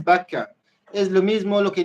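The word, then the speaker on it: בָּכָא: del lloro las lágrimas pero la pronunciación es vaca es lo mismo lo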